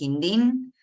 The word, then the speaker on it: Hindin: una cosa de pronunciación mi apellido es hindin eh pero sacando eso